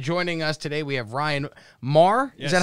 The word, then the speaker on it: Ryan Maher: And joining us today, we have Ryan Maher. Yes. Is that how I pronounce it? Yes. Ryan Maher, comedian from, where are you from?